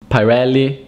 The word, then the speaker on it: Pirelli: fendi fandy fandy fendi pirelli pirelli pirelli it's not pirelli or pirelli is pirelli